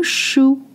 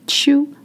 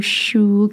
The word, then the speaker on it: chou: Le chou, not chou, le chou, cabbage, la carotte, la